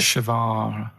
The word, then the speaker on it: Che Guevara: Che is like shake. And his his surname is like guitar. Right, Che Guevara.